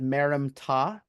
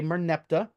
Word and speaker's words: Merneptah: This is what we call the Merneptah Stila, or you should actually probably pronounce it Merim-Ptah. That would be a pharaoh. He is the son of Ramses II, Ramses the Great. Merim-Ptah, a lot of people say Merneptah.